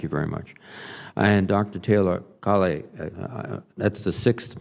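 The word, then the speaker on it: Taylor-Kale: thank you chairman reed actually you correctly pronounced my name is taylor colley you know as as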